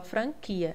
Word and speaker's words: franquia: É assim, quando diferente de franquia, você não fala franquia como quando, você fala franquia.